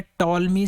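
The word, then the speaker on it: Ptolemy: है ताल्मी थ्योरम ठीक यहां पी जो है वह साइलेंट होता है सिर्फ इसको पढ़ना है टालमीज ठीक है patolis नहीं पढ़ना है इसको पढ़ते हैं ताल्मी थ्योरम एक टोलमी नहीं थ्योरम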